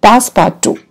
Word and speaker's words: Passepartout: This is the story of how he traveled with his companion, Passepartout. Okay, we pronounce this name here. This, I will underline this, Passepartout. Okay, we will pronounce this as Passepartout.